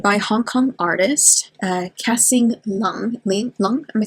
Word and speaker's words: Lung: Pronounce with a short U.